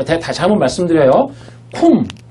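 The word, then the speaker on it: קוּם: 쿰. 자 제가 히브리어로 뭐로 읽는다고요? 쿰. 그죠? 이거 유대인들도 다 그렇게 읽어요. 뭐라고? 쿰이라고 읽어요. 자 쿰이라고 읽는데 요게 뭐예요?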